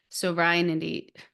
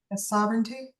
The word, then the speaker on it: sovereignty: kingdom on Earth with sovereignity Gosh guys I'm so bad at pronouncing words sovereignity like the demigods in heaven is that Lisa how do you say that word sovereignty sovereignty thank you okay that's like my